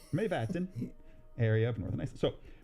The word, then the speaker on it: Mývatn: the lava formations of Dimorborgir, located in the Mývatn area in northern Iceland. Dimorborgir. Mývatn. Myvatn. It looks like it's spelled backwards almost. It's Mývatn area of northern Iceland.